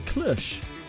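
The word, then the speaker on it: cloche: Like, is it the is it pronounced the French way? Holy moly. Yes. Apparently so a clush and brought it home with me.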